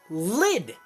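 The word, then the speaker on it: Lyd: Then we learn then freaking Valkyrie Lady comes in to Red Reptile's side, and we learn that Red Reptile is called Lid.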